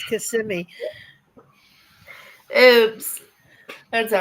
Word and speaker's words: Kissimmee: But I said, when she gets done, I'll let her know it's Kissimmee. Oops. That's all right. I can't freaking understand the words. I can't pronounce half of the places in Florida.